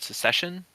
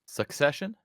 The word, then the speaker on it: Succession: this TV show called secession I think I butchered that I always butcher it succession succession yes Su sucession and um